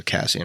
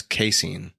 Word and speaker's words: casein: to look that up if a Cassian or casian that's bothering me hold on on a second all right I am back um I've been saying it wrong this whole time it's caseine so anyways caseine protein